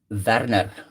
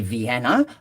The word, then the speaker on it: Werner: But for you guys, my name is Werner. Werner. But it's called Werner. So whichever way you want to pronounce it. But please just don't call me Vienna like I was called once before by somebody.